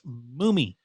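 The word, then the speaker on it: Mumi: But it is the correct pronunciation is M-U-M-I. It's Moomy. Moomy.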